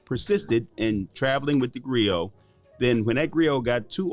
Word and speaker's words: griot: way to being a griot and by the way it's pronounced grio it's spelled g-r-i-o-t now if you speak english it's griot but if you use the french pronunciation which is where the